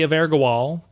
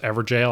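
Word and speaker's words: Evergaol: We activate the Evergawal. I'm just kidding, I know it's pronounced Evergol, but I bet I had someone do a double take. Okay, for real though, it's pronounced Everjail, I just wanted to see you squirm.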